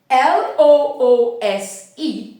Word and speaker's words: loose: the U the S therefore when pronouncing the word l o o s e at the level of pronunciation you say loose meaning that towards the end of the pronunciation the vocal Cults won't vibrate there's no vibration of the vocal codes when pronouncing I mean I mean towards the end the vocal Cults won't vibrate because it is just s and when pronouncing the